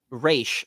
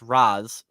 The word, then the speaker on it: Ra's: get this enzyme from, he says Raish, which was weird. I've always heard it pronounced Raz, but I guess with the apostrophe it could be Raish.